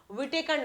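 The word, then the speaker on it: Whittaker: विटेकर नाम था इनका। क्या नाम था? ऐसे बोलते हैं हिटेकर, लेकिन ये डब्ल्यू साइलेंट रखते हैं, लेकिन आप ये नाम के लिए याद रख लो विटेकर।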